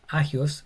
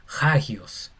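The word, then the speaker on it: ἅγιος: Cuando la coma encima está mirando hacia la derecha, se pronuncia como una J o una h inglesa, no sería agio, sería hagios.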